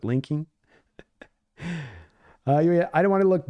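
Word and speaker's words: Laken: a little bit more his name is pronounced linking Tomlinson not Len but linking I don't want to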